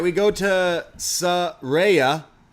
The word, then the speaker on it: Saraya: right we go to Saraya is that how you say it yeah say her name right she makes it very clear she wants us all to make sure they're not calling her Soraya so Saraya the name she comes